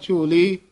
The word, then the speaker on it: झोली: जोगिंद्र मुंद्र झोली खि झोली पद पलाही उच्चारण करना है चोली नहीं कहना मुंद्रा झोली खिता बारा